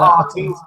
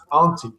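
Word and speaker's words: Antti: Artie, it's Auntie.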